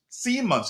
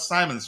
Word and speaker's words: Simons: So, uh, Chelsea and Arsenal among clubs attentive to Javi Simons, Simmons. It's pronounced Simmons, not Simons, right?